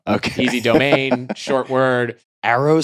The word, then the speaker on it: Aero: Arrow has a sister site called rooms.